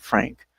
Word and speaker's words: Phranque: Fei were Fei and Frank. For the record, Frank is spelled uh p h r a n q u e.